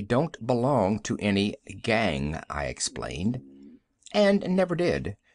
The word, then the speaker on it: gan: She pronounced it gan, with only a suspicion of a nasal sound.